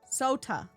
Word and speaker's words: Sot: Sot like soda but not soda. Sot. Yes, correct. Okay, I'm following Johnny. Sot with a T.